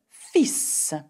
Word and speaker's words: fils: Le fils. Now have a look at the spelling of this word, F-I-L-S, fils, okay? And we don't say fils, okay? We don't pronounce the L in effect.